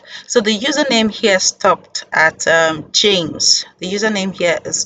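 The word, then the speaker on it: @: we have to add the ad is pronounced as at in English literally yes and it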